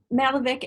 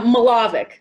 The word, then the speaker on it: Milovic: i believe uh malovic am i saying that right i always get your last name wrong it's it's okay kathy it's uh milovic milovic yeah so is